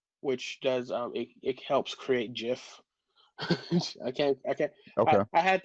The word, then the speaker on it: GIF: And I had to psych myself out because it's like G like in Ghost or G like in Gel.